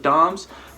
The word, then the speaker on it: DOMS: lot of research about dumb Dom's you pronounce it Dom's basically delayed onset muscle soreness I did a lot